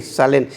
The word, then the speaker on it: Salén: Salén. Quiere decir Jerusalén. No es salén porque sigue acento en la e.